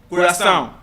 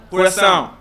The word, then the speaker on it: coração: Most likely, you have to use your nose. For example, please say after me. Coração. Coração.